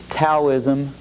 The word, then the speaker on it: Taoism: similar scene yeah okay Taoism spelled taoism pronounced Taoism as d.o.w ISM was founded by a